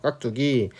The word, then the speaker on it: 깍두기: 깍두기 돼 있죠 그죠 깍두기 자 발음은 뚜야 그죠 발음은 쌍디귿 발음이 나는 것인데 표기는 어떻게 한다고 표기는 그냥 두로 한다고요 그죠 자 그런 식입니다